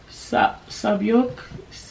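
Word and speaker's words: Sae-byeok: Sabyok, that's how you say it.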